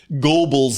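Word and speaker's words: Goebbels: And I it's Gobles sounds weird to me, even if it's correct.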